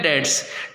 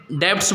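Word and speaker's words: debts: Equity, एक होता है डेट्स। डेट्स के 2 पार्ट्स होते हैं। यहाँ पे ध्यान रखिएगा, जब हम डेट्स बोलते हैं तो इसको कुछ बच्चे डेब्ट्स बोल देते हैं, बी इसमें प्रोनाउंसिएशन में नहीं आता।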